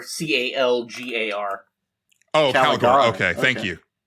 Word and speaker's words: Calgar: Well, it's actually pronounced Calgor, Calgar.